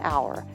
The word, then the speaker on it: hour: For example, we say an hour, an honor, or an air because they all start with a vowel sound since the H is silent.